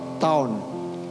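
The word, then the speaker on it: תם: Saudara, tenang di bahasa aslinya diterjemahkan, ya tulisannya TAM. A-nya pakai topi. Bacanya taum. TAWN. Taun. Artinya perfect.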